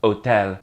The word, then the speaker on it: hotel: In Spanish, the word for hotel is just hotel. El hotel. Same word exactly, but said in a Spanish way. Don't forget that H is silent.